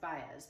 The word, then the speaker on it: Baez: who it was and she said that's Joan bz and it's pronounced bz but she didn't know that um I learned